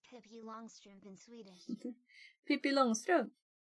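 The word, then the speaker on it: Pippi Långstrump: Pippi Longstrump. Pippi Longstrump. I think it's like Pippi Longstocking in English, right? And also there's the first A in Longstrump has a ring above it.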